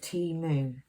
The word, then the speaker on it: Temu: On my Temu unboxing, Sue Glennis says, it is pronounced Temu.